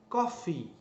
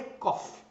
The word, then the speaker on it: coffee: é pronunciar errado então você tem que pronunciar o final da palavra que é Coffee não é cof coffee é o verbo